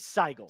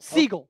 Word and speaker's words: Sigel: It is Maris Saigel. Seagull. Seagull. like the bird.